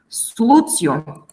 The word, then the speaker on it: solutio: Solutio, abstinentia, but tibia.